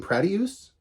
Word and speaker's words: Pratyush: I'm going to call him Pratyus. I looked up how to pronounce his name. Pratyush.